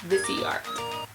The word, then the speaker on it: Boxycharm: So it's called Boxycharm.